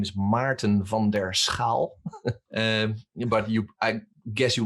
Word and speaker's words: Maarten van der Schaal: on linkedin but it's difficult to do that phonetically because it's my name is martin vonderskal but you i guess you will put it